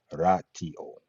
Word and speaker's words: ratio: In Latin, the word rot ratio, quote unquote, is pronounced ratio in Latin.